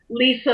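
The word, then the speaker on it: Litha: like Li spelled Li th a and it's pronounced like Lisa over the lip it delete them and it's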